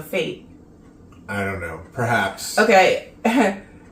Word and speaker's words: Fête: She said that it's pronounced with a IE or an IA, so fate.